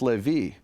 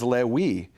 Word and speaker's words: Levi: And in his Hebrew, it was Lewi. He doesn't understand how this guy 700 years before in Israel is rhyming Navi with Lewi.